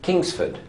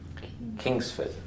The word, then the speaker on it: Kingsford: Kingsford. Can you hear that? Kingsford. So how many syllables? Kingsford. 2. Right. How many syllables in Hillsdale? 2. 3. You sure? Yes, 2. Right. So Kingsford, that's 2 syllables.